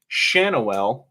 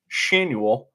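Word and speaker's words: Schanuel: name properly this season the other one is noan Shanel which I thought was pronounced shanu the first baseman for the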